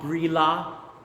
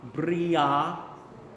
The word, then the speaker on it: brilla: The double L's are pronounced as a Y. Yeah, bria. Yeah. So we don't pronounce the L. It's not brilla, bria.